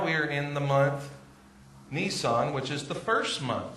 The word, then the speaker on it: Nisan: I'm pronouncing it just like the car. Nisan.